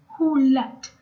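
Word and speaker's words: ሁለት: one would be a two would be who left so there's who like the word you know who Let The Dogs Out Just who like the direction well not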